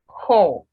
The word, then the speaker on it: whore: The W is silent. Whore.